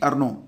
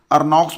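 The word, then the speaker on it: Ernaux: और ये भी याद रखना कि एनी अर्नो स्पेलिंग अंग्रेजी में पढ़ोगे तो अर्नॉक्स पढ़ लोगे, हिंदी में इसको कहेंगे एनी अर्नो।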